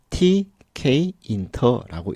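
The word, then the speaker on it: Tkinter: 영어로는 TK인터라고 읽는데요.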